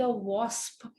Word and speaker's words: wasp: British English में वॉस्प कहते हैं, अमेरिकन में वास्प बोलते हैं, तो अपन तो वॉस्प बोलते हैं, ठीक है।